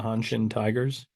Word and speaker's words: Hanshin Tigers: Yeah, spent 2009 with what, Hanshin? How do you say it, Tyler? Yeah, the Hanshin Tigers.